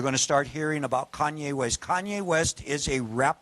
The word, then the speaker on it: Kanye West: Kanye West.